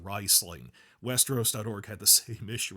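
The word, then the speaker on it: Rhysling: I keep saying for 20 years I've been saying Reeseling and now they're saying it's pronounced Risling.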